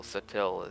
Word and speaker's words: Sutil: Well, Adrian Sutil is... Sutil, I think is his name. Not subtle, Sutil is something like it's got a weird pronunciation.